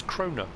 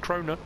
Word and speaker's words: Krone: piece of machinery and they referred to as crona so i've been saying it wrong all this time crona i'm sure somebody